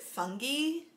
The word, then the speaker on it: fungi: of fungi or as alexa told me to pronounce it fungi basically we're going to be looking at mushrooms